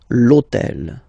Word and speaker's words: l'hôtel: H, but remember that in French we don't pronounce H, okay, so basically the first sound of the word is the vowel O, okay, so for the same reason, E needs to disappear, l'hôtel, okay, so if we